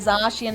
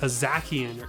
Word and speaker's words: Zacian: for lack of a better term there, the Zacian and the Zamazenta to defeat Eternatus.